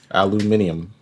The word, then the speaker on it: aluminium: sponsored by big aluminum aluminium alumin that's how they say it across the pond they also spell it different I think I think it's spelled the same way we just don't pronounce that eye is it I believe